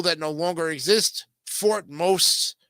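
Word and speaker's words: Mose: which is Valentine's Day as one of the most interesting blacko history facts the NAACP is America's oldest civil rights organization as well as its largest wow for most or for most is an important town in black history of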